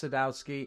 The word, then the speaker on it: Sadowsky: sky d I know it's pronounced Sadowski now everyone that commented in the comment section